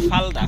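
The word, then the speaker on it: 팔다: বিক্রয় করা ফালদা নিচে রিউল বসলে তাহলে কি উচ্চারণ হবে শেষ বর্ণটা ল এজন্য উচ্চারণ হচ্ছে ফালদা ফালদা অর্থ কি বিক্রি করা ফালদা অর্থ এই শব্দগুলো আপনারা নোট করেন।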